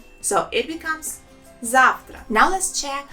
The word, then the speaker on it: завтра: And tomorrow in Russian language sounds завтра. Завтра. There are 2 syllables in this word and the stress is on the first letter A.